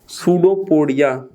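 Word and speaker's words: pseudopodia: उनको हम बोलते हैं सूडोपोडिया। सूडोपोडिया, वैसे तो PSUDOPODIA ये लिखा है, लेकिन यहां पर P साइलेंट है।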